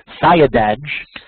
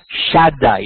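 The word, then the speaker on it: Siadaj: would have pronounced it, Sayadaj. It's pronounced Shaddai. It's a homonym for God's holy name.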